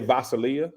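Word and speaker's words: Gvasalia: gv-a-s-a-l-e-i-na I'm gonna say vasilia I'm gonna say the g is silent creative director from Balenciaga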